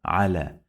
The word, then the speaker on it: على: على ع لا على. Do you remember when we talked about this? Yeah, it can be pronounced like long vowel alif.